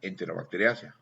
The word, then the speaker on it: Enterobacteriaceae: Primero, a veces leemos en español ACEAI, pero se va a pronunciar SEA. Por ejemplo, tú lees Enterobacteriaceae y se pronuncia Enterobacteriaceae.